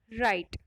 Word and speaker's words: write: लिखने की अंग्रेजी क्या होती है, राइट। जो राइट की स्पेलिंग होती है वो होती है WRITE, लेकिन W उसमें साइलेंट होता है, W की आवाज नहीं आती है।